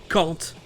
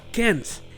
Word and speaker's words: can't: dire "ne pas pouvoir" se prononçait "cAHn't". C'est le cas, c'est la prononciation en anglais britannique. Mais dans les films et séries que j'ai regardé plus tard, j'entendais toujours "cAn't" et bien entendu, c'est parce que je regardais des films et séries venus des USA. Ça c'est la prononciation en anglais américain.